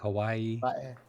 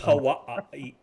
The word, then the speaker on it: Hawaii: uh chat is correct all the w's are pronounced with a v like a v a v yeah like so hawaii like hawaii yeah that's how you're